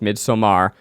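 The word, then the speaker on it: Midsommar: if anyone saw the movie midsummer which I like to pronounce mid somar I want a couples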